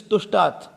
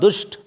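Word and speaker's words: तुष्ट: It is tushtat. It is tusht. Sorry. It is tusht, not dusht.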